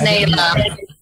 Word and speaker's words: Naelah: Yes, Naelah. Butchered your name.